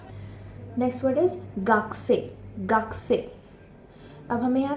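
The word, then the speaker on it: gakusei: वो यह है कि अगर आप रोमाजी में इसकी स्पेलिंग देखेंगे तो वो है जी ए के यू एस इ आई वि इज गाकू से बट इसको हम गाकू से नहीं बोलते हैं इट्स गसे गा ओके यू साइलेंट हो जाता है ये कु क ना बोल के हम क बोलते हैं गक्कसे गक्कसे मींस स्टूडेंट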